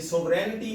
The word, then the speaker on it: sovereignty: ये सोवरेनिटी में जी साइलेंट है, जैसा कि पहले भी आपको कई दफा बता चुका हूं कि वो वर्ड जिनमें EIGN इकट्ठा आता है उनमें जी साइलेंट होते हैं।